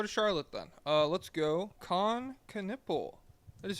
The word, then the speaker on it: Knueppel: KNUEPPEL.